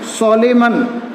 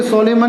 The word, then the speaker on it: solemn: जैसे और भी स्पेलिंग है, सोलेमन, SOLEMN, सोलेम बोलेंगे, सोलेमन नहीं बोलेंगे।